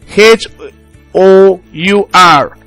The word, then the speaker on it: hour: could also have situations where the consonant letter is silent for instance in the word our h o u r h o u r so you say I came here an hour ago you can't say I